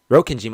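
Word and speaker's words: Rokkenjima: And for you, the relatives visiting Rokenima, Rokenima, I said it right.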